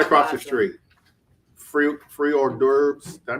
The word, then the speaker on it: hors d'oeuvres: Free hors d'oeuvres. Did I pronounce that right?